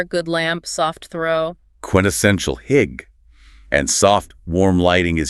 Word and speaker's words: hygge: Hygge. Pronounced hygge.